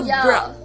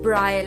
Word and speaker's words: braille: named, which was a Braille. Yesterday I just mispronounced it. I said braille, and she said, no, it's braille.